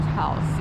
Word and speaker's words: Haus: like German Al house you know it's spelled h a u s all right we'll